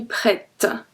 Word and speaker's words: prête: So when you want to say this one masculine, just remember that with the feminine it's gonna be prête. Prête. With a T, so we pronounce the T.